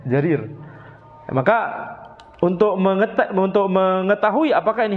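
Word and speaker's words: جرير: Jim yang kemudian diikuti dengan ya yang terletak di antara dua ra. Jadi bacanya apa? Jarir. Jarir.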